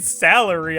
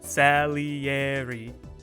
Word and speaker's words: Salieri: found out I've been saying salieri wrong this whole time I I've been saying salary I don't know why it's just the way it looked to me but you have to like separate each syllables salieri like if you were saying it you know Italian style salieri right but I was saying salary anyway that's a blunder